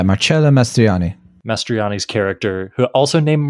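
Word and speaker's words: Marcello Mastroianni: result in Marcelo uh I want to say it right marello mastriani is that right yeah marchello mastriani mastriani's character who also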